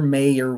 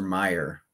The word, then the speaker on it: Mayer: it's mayor all right it's not I'm an Oscar mayor weener it's Oscar Meyer where the E lends itself to the pronunciation and this is where